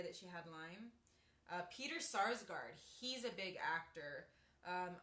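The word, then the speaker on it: Sarsgaard: also another big actress Peter Skarsgard yeah it's spelled or sarsgard I'm sorry Peter sarsgard s-a-r-s g-a-a-r-d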